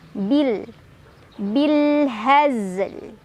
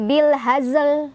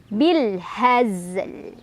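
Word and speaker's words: بِالْهَزْلِ: Zainya dibaca sebagaimana mestinya ya. Nah, kemudian lamnya disukunkan, dia tetap harus dibaca. Hati-hati, zai bukan dipantulin ya. Zai bukan dipantulin. Jangan mantul bil hazl, jangan. Tapi bil hazl. Lamnya tetap dibaca.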